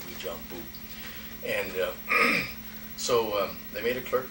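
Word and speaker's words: Uijeongbu: Now, that's a French spelling, and it starts off with U-I something, but it's pronounced Wijambu.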